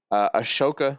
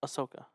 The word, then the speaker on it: Ahsoka: Ashoka season 2 also coming back. Ahsoka. What Ashoka? Ahsoka. You're saying The H? The H is the H is silent.